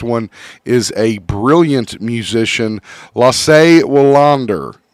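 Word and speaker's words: Lasse Wellander: Our first one is a brilliant musician, Lasse Wallander is how you say his name, an ABBA guitarist.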